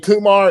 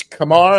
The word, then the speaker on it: Kumar: And he said, some people have been saying Kumar, it's Kumar. And I emailed him back and I said, that's probably me, Rich. I'm sorry. And he goes, hey, it's 99% of us. We've all been saying it wrong. I did it yesterday, even after the email. I mean, it's Kumar. It's like Lamar. Like Lamar, exactly. And like Lamar with a K.